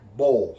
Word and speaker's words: Bolle: was drawn by uh frank bowle that's b-o-l-l-e frank bowl so i hope that's how you pronounce it from 1924 to 2020